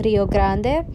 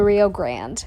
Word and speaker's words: Rio Grande: So en español se dice el Río Grande, pero in English we just say the Rio Grande. We pronounce it like English.